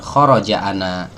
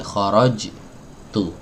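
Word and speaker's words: خرجتُ: Kharajtu itu asalnya kharaja dan ana, itu ananya diubah jadi tu, nah, sehingga pelafalannya tidak kita katakan kharaja ana, salah ya, bukan kharaja ana, aku keluar, bukan, tapi kharajtu. Nah ini kemarin juga udah kita bahas ya.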